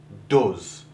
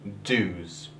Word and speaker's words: does: Cela se prononce does et non does.